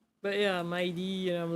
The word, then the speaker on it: Mydei: When that guy came out, I pronounce his name as Midday, right? Because it sounds cooler. And unfortunately, in the game, because I'm playing on English dub, they it is pronounced as my D, and I'm like, my what?